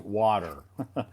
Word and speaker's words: water: Guys, in American English, we have like the R sounds. We say it like as it's like an angry dog. Okay. Yeah, And also about the word W, we need to round our lips when we're just, blowing a candle like this one.